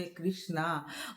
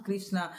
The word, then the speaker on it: कृष्ण: श्री द्रौपदी का नाम कृष्णा बहुत कोई श्री कृष्ण को मैंने मतलब गलत उच्चारण करते हैं श्री कृष्णा कृष्णा बोलते हैं लेकिन कृष्णा द्रौपदी का नाम है और द्रौपदी का नाम